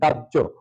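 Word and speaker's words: দাহ্য: আমাদের শিরোনাম ছিল ব্যতিক্রম কারণ দাহ কখনো বলি না কি হবে দাজ্জ অর্থাৎ দা দাজ ঝাজ ঝহেতু জ ফলা আছে এজন্য আমাদের শেষে ওকার দিলাম আর যদি এই কাব্য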